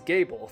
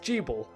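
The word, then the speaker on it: Gebel: the Moon review, is you do not pronounce Gable as Gable. The name is pronounced Jeeble.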